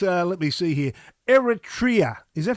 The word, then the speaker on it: Eritrea: uh what about uh let me see here eritrea is that how you pronounce it yeah eritrea eritrea um it's uh it's a former italian